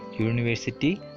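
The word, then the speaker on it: university: അവയുടെ ഉച്ചാരണം നോക്കിയിട്ട് നമുക്ക് ശരിയായി ആർട്ടിക്കിൾസ് ചേർക്കാവുന്നതാണ്. അതിന് കുറച്ച് ഉദാഹരണം നോക്കാം. A union, A European, A യൂണിവേഴ്സിറ്റി, അങ്ങനെ കുറച്ച് ഉദാഹരണങ്ങളുണ്ട്.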